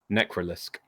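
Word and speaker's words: Necralisk: How do you pronounce that? Necrolisk.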